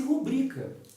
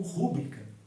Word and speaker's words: rubrica: a nossa assinatura abreviada fala se rubrica mas muitas pessoas a pronunciam como rubrica como se ela fosse uma palavra proparoxítona quando ela não é da obstante Na minha